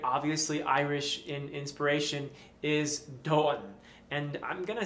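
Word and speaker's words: domhain: irish speaker but i believe that when you have an age in the middle of a word it cancels out the consonant before it um so it's spelled d-o-m-h-a-i-n but i believe the correct pronunciation in irish at least is dawn or something like that so i'll go with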